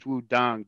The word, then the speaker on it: Wudang: The Pinyin is Wudang, D-A-N-G, but the old Wade Giles system is spelled T-A-N-G.